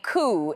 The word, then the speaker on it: coup: Let me say this slow for the people in the back who still think coup is pronounced like the car brand coupe.